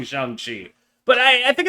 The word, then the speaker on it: Shang-Chi: So that like he'd be Sean, but like you add a G, and then like you can convince idiots like me to pronounce the name correctly.